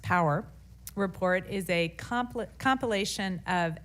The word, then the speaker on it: PWR: The Priorities for Weather Research, or PWR, pronounced POWER, report is a compilation of expert recommendations from across the U.S.